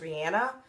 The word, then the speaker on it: Rihanna: my girl or she she said in an interview her name was actually pronounced Rihanna but whatever you know